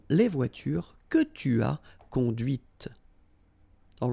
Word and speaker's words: conduite: And that's when you hear the difference between conduit, because remember, final T is not pronounced, conduit here, and then the feminine, conduite. Okay, so here you can listen to this t, t, okay? Conduite, all right?